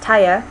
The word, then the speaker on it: tire: But tire is pronounced taya, and torn is pronounced ton.